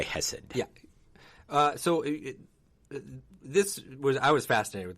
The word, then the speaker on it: Khesed: I think I'm saying it right when I say Khesed. Khesed, yeah. Khesed. I think. Again, Hebrew can be, there's kind of this guttural sound. Yeah. It's a CH at the beginning in English if you